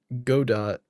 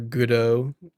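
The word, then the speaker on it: Godot: So, I'm almost wondering if I should learn God dot or goodo. Yeah, good. I'm pretty sure it's pronounced GDAU.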